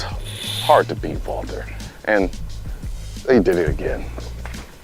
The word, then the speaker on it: Walther: manages Walther wther always manages to make exceeding pronounced Walter singly good triggers I say the trigger that's